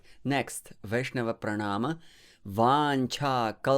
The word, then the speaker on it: vāñchā: don't worry so and in vancha the second syllable is vancha it's not vancha more air it's aspirated you need